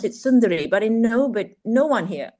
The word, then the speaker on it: Sundari: But we would pronounce it sunduri.